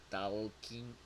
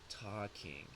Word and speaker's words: talking: For this verb, we never say the L sound. It is not talking. That is not correct. It is talking.